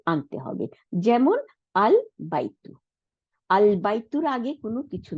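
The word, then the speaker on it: البيت: যেমন আল বাইতু, আল বাইতুর আগে কোনো কিছু নাই, তাই না? তাই আমাদের এই হামজাতুল ওয়াসলটাকে উচ্চারণে আনতে হইল। The house is pronounced al baitu, and এখন যদি ওয়াও জবর, ওয়াও মানে এবং, তাই না?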